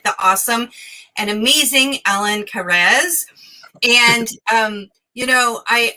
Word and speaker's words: Kares: like spot on you know but it's actually cares alan cares which is a lovely way to pronounce it too so welcome i really love